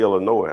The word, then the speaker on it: Illinois: it's stellar noise no they know to say illinois i guess you know don't why put an s on it if it's solid why use it that's a waste of an s um so um anyway